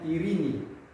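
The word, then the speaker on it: εἰρήνη: Contoh kata ya, misalnya irini, ya, irini. Ya, Yesus sering mengatakan kepada murid-muridnya, irini imin, artinya damai bagi semuanya. Artinya damai bagi kalian. Ya. Yang dipakai itu adalah ya, irini.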